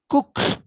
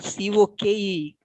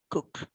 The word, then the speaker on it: Coke: burnham's case warren edward cook though it is c-o-k-e coke but it's pronounced as cook the this dr bonham